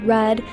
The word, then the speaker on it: read: In the past, it sounds like read, as in yesterday, I read a fascinating article.